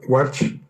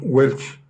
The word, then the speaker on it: Welch: Se llama Welch. Se pronuncia Walsh. Pero aquí, en el condado de los incultos, lo pronunciamos Welch.